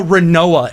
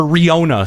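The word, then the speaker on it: Rinoa: Well, because God only knows how Renoa is spelled. Well, or Riona, sorry.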